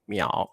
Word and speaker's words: 淼: 这个字要念有没有人会念哎呀这个字太少见了啊这个字老师教大家教大家念啊这个要念秒这个字念秒 OK 秒哦好很少见的字写给各位看一下秒好